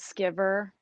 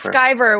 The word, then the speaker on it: Skiver: do people normally say sometimes this guy comes out as skiver or skeever but it is skyver which in scotland means